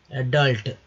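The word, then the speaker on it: adult: अब देखिए एडल्ट, एडल्ट, अडल्ट नहीं है, अडल्ट जो है, अडल्टरेशन जो है ए नहीं आपका, तो ये है दोस्तों ब्लंट, ब्लंट यानी भोथर।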